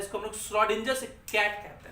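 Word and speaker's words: Schrödinger: इसको हम लोग श्रोडिंजर्स कैट कहते हैं। श्रोडिंजर्स कैट, श्रोडिंजर्स एक साइंटिस्ट है, श्रोडिंजर्स प्रोनाउंस करते हैं, श्रोडिंजर्स कैट बोल सकते हैं आप उसको।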